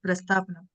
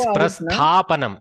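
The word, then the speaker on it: प्रस्थापनम्: Because in Tamil we use the word Prastapanam. That is Prasthapanam. Sthadatu. Prasthapanam.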